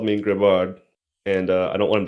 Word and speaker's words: Grebard: I say Grebard. Grebard. Yeah, that's how I Grebard. say it. Yeah. Grebard. Yeah. I mean, I've heard you say it too. So. But Koro has always called me Grebard, and I don't want